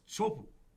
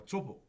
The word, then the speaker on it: Teahupo'o: place called Teahupo'o, and Teahupo'o is known worldwide as Chopu or Chopo. That's just kind of how they say it. It's kind of a strange thing, but it is Teahupo'o.